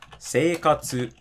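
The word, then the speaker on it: 生活: For example, seikatsu, the whole word is flat, there is no drop.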